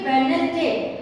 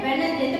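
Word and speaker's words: Wednesday: जैसे की और ज्यादा हम देखते हैं कि वेनसडे इसको हमसे बोलते है वेनसडे इसको इस तरीके से नहीं बोला जाता है यहां पर भी डी हमारा साइलेंट होता है पर इंडियन कल्चर में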